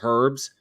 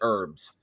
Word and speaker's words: herbs: okay Bob Bob noell understand that some people pronounce it herbs like herbs but I'm sorry I'm I'm I'm I'm a I'm a heathen colonist we call it herbs herbs and [ __